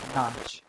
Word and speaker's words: nach: uh when the British were in India they referred to the uh dancing girls the who were called notch uh nachwali as u notch girl because their stiff British upper lip couldn't pronounce nach and so I I